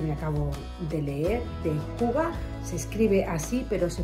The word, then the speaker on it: hygge: un libro que me acabo de leer de Hyuga. Se escribe así, pero se pronuncia en danés Hyuga.